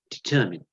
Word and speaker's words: determine: I know it's spelled mine, but we pronounce it determine.